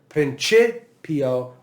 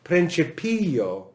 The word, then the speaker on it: principio: never be back here you will never say pr right you'll never say that it's either prince pio or principio but it can only be principio if that syllable is long okay so that's a